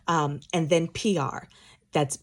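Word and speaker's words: Piard: Um and then P R. That's P I A R D. The D is silent. My husband is Haitian and so it's French. Okay, so it's just pronounced P R kind of like uh abbreviation for public relations, PR.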